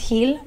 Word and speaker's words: Gil: What is Gil? What is that origin from? It's actually pronounced heel, but it's okay. Heel, like the dog, heel.